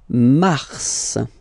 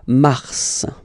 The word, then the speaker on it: Mars: Then Mars, okay? So in a way, it's an exception because normally final S is not pronounced in French, okay?